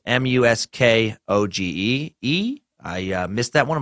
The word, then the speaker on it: Muskogee: It's Muskogee.